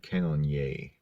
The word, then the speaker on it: Cannonier: Jared Cannonier is filling in for Jacare, who's filling in for Luke Rockhold.